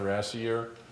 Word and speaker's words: Rassier: here I'm Mike Pat and I represent rassei year and seems a little hard to pronounce that the way you can think about